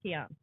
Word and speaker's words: Kian: Kian. Yep. Keen. Yeah, he always gets Keen. It's spelled like Keen.